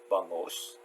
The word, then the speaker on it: bangus: so yes so uh this is b bangos or it's spelled bangus b a n g u s milkfish this is milkfish